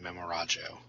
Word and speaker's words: Memorajo: and in actual Esperanto, the J is actually pronounced as a J and not an H or Y. Oh, okay. I did not know that, so it is Distant Memorajo.